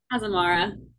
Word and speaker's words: Azamara: azamar Azamara azamar how do you say it Azamara Azamara okay asamara cruises um so excited to